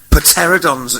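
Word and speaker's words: Pteranodon: as pterodactyls now called padons except you don't pronounce the P yeah and there was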